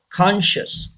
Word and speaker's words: conscious: silent number three conscious say this word conscious say silent conscious the fourth one Crescent